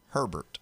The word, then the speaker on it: Herbert: So, why is it Justin Herbert pronounced Herbert?